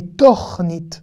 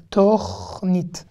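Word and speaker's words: תורנית: Alors là, on ne lira pas tachnit, mais tornit, tornit.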